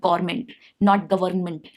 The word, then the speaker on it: government: Government, there is no R, no pronunciation of R. It's not government, no, government. Gyroscope, not gyroscope, gyroscope.